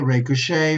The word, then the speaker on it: ricochet: So remember, basically, these are the words that you have to remember about bouquet, bidet, cabaret, cachet, gourmet, ricochet, valet, and debut. Okay, not pronouncing with a T.